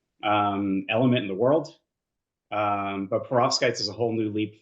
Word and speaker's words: perovskite: And he actually developed the first perovskite. That's the right way to say it.